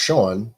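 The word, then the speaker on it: Seán: McInteer says in Irish pronounced Shaun and spelled as Shaun with a fat the accent above the A is the Irish equivalent of the English name John.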